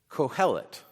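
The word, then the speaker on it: קֹהֶלֶת: The Hebrew word for this is cohellet. Cohellet. And that's how it's spelled.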